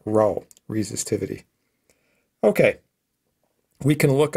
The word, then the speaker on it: rho: it has a symbol the greek letter rho kind of looks like a p right but in sort of anglicized we would spell it out like that row resistivity okay we can